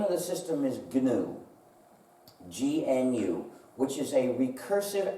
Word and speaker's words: GNU: than that you see GNU is the most humor charged word in the English language because according to the dictionary the g is silent and that looks very